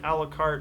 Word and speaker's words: Alucard: However, the famed Belmont clan and his son Alucard, it's A-L-U-C-A-R-D, but they pronounce it a la carte like the menu, seek his ultimate destruction.